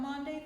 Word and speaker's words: Maundy: meet you, Erica, on Maundy, Thursday. That's not usually something you say, is it? No, sounds like laundry. I know, right? It sounds like laundry. Yeah. Rhymes with laundry.